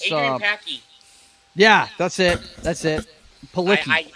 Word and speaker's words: Palicki: Palicki, I think is how you yeah, pronounce her Palicki.